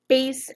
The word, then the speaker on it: bass: have multiple different pronunciations this is pronounced like a bass guitar or a bass drum not a bass fish it's not a bass